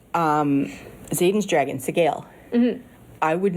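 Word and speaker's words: Sgaeyl: known that it was supposed to be said Sigale. Seagull is about the closest I've gotten. Seagal? Yeah, as in Steven Seagal. Yeah, no, Sigale is how they said it in the audiobook.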